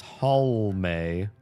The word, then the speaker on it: Halme: They say it wrong, and they really want to drop that last E. If there's an E in my name, it's there for a reason. Pronounce the E.